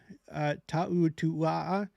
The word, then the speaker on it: Ta'utua'a: Ruth Ta'utua'a. She said that's how it's pronounced. It's like a Polynesian name. You're supposed to pronounce it like that.